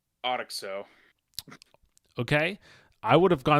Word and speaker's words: OTXO: I'm going to guess it's Otoxo. Okay. I would have gone with something similar. It's Ocho. Just like, I guess, like the number in Spanish.